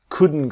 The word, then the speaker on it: couldn't: The T is silent, so it becomes we couldn't go.